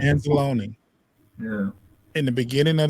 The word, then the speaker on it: Anzalone: Is that how you pronounce it? Anzalone, I think. Anzalone.